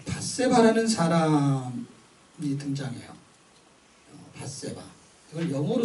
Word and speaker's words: 밧세바: 자, 밧세바라는 사람이 등장해요.